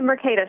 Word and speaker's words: Mercatus: It's the Mercatus Center.